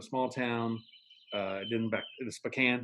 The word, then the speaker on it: Spokane: so then you moved on from there to a small town, then back to Spokane, right?